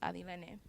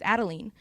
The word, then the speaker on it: Adilene: her and say like, oh, it's Adilene. And so for 17 plus years, I was Adeline. And it was until I got to high school that I was like, okay, people can't really pronounce Adilene, I'll go by Adi. And they couldn't really pronounce that either because of the D, and they would say Addie.